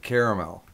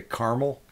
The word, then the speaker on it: caramel: You know, and I always pronounce it caramel because there's that extra A. Because a lot of people say caramel.